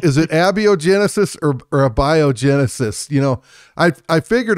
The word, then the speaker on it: abiogenesis: me how to pronounce abiogenesis if I'm not mistaken and I could be mistaken I think it's a biogenesis a bio gotcha yeah that makes sense with with the accent on the a a and the J